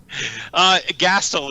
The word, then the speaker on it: Gastil: What is your pronunciation? Gastil is the way Gastil.